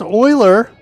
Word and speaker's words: Euler: of type float and uh public euler is pronounced euler it is oh um the euler angles euler angles the rotation as euler angles in